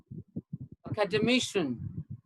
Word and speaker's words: academician: And this one is academician, academician, academician. Okay, it's like mission, MISSION, mission.